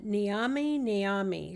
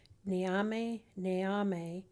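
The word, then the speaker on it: Nyami Nyami: that deep dive yourself so it's uh namami namami so it's spelled n y a m i and then they repeat that word again n y a m i namame namame is the zamy snake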